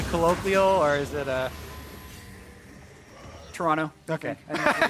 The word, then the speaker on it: Toronto: actually by a tweet it's pronounced Toronto with no uh no T oh yeah today I learned Toronto maybe someone else you're